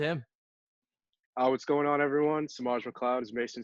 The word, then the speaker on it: Semaj McLeod: Today I have Semaj McLeod. Is that the right Yeah, pronunciation?